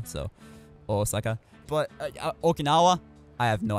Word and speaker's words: Osaka: because usually they say Osaka, and the pitch accent's on the O, and not the sa, so Osaka.